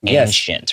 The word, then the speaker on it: ancient: Okay, so you've heard the one I've done with the CH sound, but you've also heard the one that has an S sound, ancient, right? So both are acceptable, so just know you'll hear both.